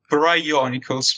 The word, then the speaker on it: Brionyculus: It's Brionyculus because you have the the meme word bro, you know, bro. And then Bionicles, of course, is like you pronounce Brionyculus instead of Bionicles.